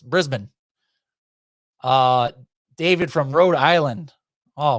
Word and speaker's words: Brisbane: You like how I said it right? Brisbane, right? Not Brisbane. It's Brisbane.